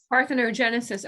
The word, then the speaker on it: parthenogenesis: okay so i want to make sure i'm pronouncing right it's called part arthrogenesis part orthono genesis parthenogenesis okay and that is the actual term for